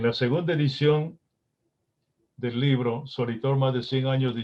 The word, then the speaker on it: Soritor: En la segunda edición del libro Soritor, más de 100 años de historia, auspiciada por la municipalidad, dirigida por el actual alcalde, ahí anotamos que Soritor es una palabra compuesta por 3 sílabas. So-ri-tor.